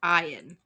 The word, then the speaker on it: Ian: And his name is spelled Ian, but it's pronounced Ian. Interesting.